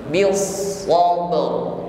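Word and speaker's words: بِالصَّبْرِ: Shadnya tasydid ditekan membacanya, lalu ditebalkan karena sifatnya isti'la bil so. Jadi huruf-huruf yang memiliki sifat isti'la harus tebal bunyinya. Bil sabr.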